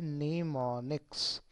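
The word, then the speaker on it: mnemonics: इसमें इसमें am silent होता है निमोनिक्स।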